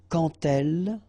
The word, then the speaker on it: quand: So like that, quand elle. All right, same rule here. Remember, when you will have this D, you will phonetically pronounce it like T. Quand elle, dans un, okay, in